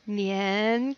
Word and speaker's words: 年: use this movie, but if anyone remembers the nian cat, if you don't ask me and I'll show you the link, is a good way to remember how to pronounce year. Nian, jinnian.